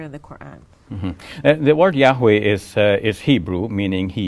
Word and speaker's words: Yahweh: are mentioned why HWH and Scholars now fill it out to say that Yahweh is the best pronunciation now according to the